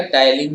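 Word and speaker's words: ptyalin: यहाँ पे देखो पी साइलेंट रहेगा, ठीक है ना, पी साइलेंट रहेगा, टाइलिन ही हम इसको बोलेंगे।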